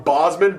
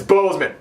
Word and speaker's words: Bozeman: videos that I got his last name wrong Bosman Bozeman well it's Bozeman both at both the